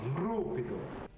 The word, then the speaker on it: Rupido: roll the R, John. Rupido. Good. Very good.